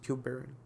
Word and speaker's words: tuberin: It's pronounced tuberin.